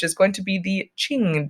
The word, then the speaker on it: Qing: going to be the Qing Dynasty is how it is pronounced remembering that Qin was our other one that was similar to this but of course new